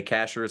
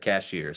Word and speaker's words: Cashiers: I already mispronounced Cashiers. Locals say Cashiers. I said Cashiers.